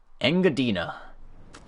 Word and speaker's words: Engadina: Also, I figured out how that dessert is pronounced. Engadina. Definitely wasn't expecting that.